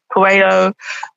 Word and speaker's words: Coelho: I can never pronounce his surname. I think Cleo or something like that. Coelho.